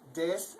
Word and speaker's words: des: That's des, and the E sound makes an A, or the E makes an A sound in German, so you'd say des, but it's not a hard E like des, so it's just more like des.